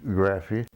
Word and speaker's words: Graffy: right back with Lieutenant graphy Lieutenant please pronounce and spell your full name my name is graphy g r a ffy that's my last name